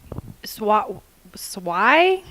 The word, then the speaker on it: swai: Swai? S-W-A-I. I'm not for sure if I'm pronouncing that correct, but it's swai.